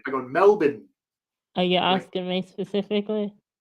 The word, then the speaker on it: Melbourne: the accent, you know, if you have an Australian accent, the R kind of goes away. But if you're American, you say Melbourne. You don't insult the accent. I go Melbourne.